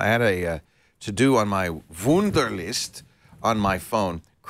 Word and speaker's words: Wunderlist: And that's what Wunderlist, or maybe it should be Wunderlist. Wunderlist. It's spelled W-U-N-D-E-R.